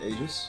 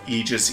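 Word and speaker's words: Aegis: that pronounces it other ways but I will pronounce it Eis I mean I honestly would have always assumed AIS that's what I would think AIS which something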